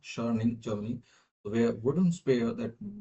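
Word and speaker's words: Schöningen: Uh, that's how it is pronounced, Schörning, Germany, where wooden spear that date back to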